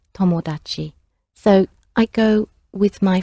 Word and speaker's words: tomodachi: The word for friend in Japanese is tomodachi, tomodachi. Maybe you've got a friend called Tom, who made an odd achievement, tomodachi.